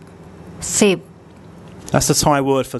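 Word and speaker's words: สิบ: The initial consonant is one of the S consonants, then the short I vowel, and then the bo by my consonant we introduced today. And as a final consonant, it makes a P sound.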